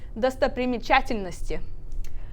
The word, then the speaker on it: достопримечательности: Okay, so do, sto, pre, Pri. so, okay, pri, me, ch, till, is that till? Til. Till, no, ste, Sti. sti. Yeah, so the word is достопримечательности.